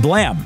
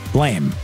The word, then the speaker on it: Blame!: post-apocalypse, you should give Blam a shot. It's a Netflix-produced film based on the manga of the same name. And you should know that it's pronounced Blam, not Blame.